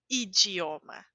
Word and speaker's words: idioma: falo o dia como Bom dia e idioma idioma di sempre de ok vamos seguir para a